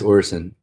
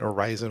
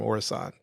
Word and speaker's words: Orison: How do we pronounce it? I think it's Orison. Orison. I was flying to Orison. I think I called it Horizon when I first played, but we were flying to Orison.